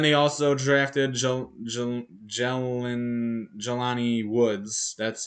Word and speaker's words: Jelani: mine um then they also drafted joe jalen jelani woods that's how you pronounce that i don't know why i fumbled